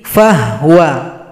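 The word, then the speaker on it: فهو: Fahuwa menjadi fahwa.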